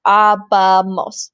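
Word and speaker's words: ábamos: Also notice in the AR verbs, there's only one with an accent, and that's abamos. It's because it's abamos. 3 syllables, so we want to emphasize the right syllable.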